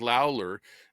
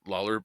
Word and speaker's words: Lawler: GOP representative Mike Lawler um or Lawler I guess is how you pronounce that of New York said